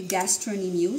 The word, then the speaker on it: gastrocnemius: so this one okay this is the okay gastronimus so silent c it's spelled as gastrocnemius but you should pronounce that